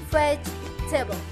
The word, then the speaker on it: vegetable: the first plot is vegetable this wood is challenged because it's look like that should be four syllables in this form but it's not there are three syllables vegetables can you see the syllables